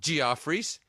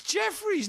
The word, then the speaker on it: Jefferies: of this restaurant and she goes gr fries and I'm like no it's Jeffries no one's ever pronounced that G offer you [ __